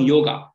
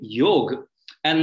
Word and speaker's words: योग: come there to learn yoga and so i realized that many people have a lot of misconceptions what actually yoga is or even the way it is pronounced it's actually yog and not yoga many most of us